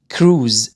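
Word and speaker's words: cruise: كراوز كروز، رحلة بحرية كروز. طبعا الاس هنا ننطقها زي عشان جاي من الحرفين متحركين.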